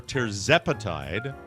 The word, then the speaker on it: tirzepatide: Microdosing with semaglutide or tirzepatide, pronounced it the right way finally, might just be the game changer you've been looking for.